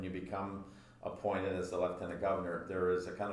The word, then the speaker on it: lieutenant: left tenant governor and we pronounce it leftenant uh Lieutenant is American and we go with the British pronunciation so in French and